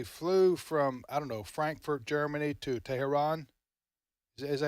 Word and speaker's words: Tehran: said when they flew from Frankfurt, Germany to Tehran, is that how you pronounce it? Yes, Tehran.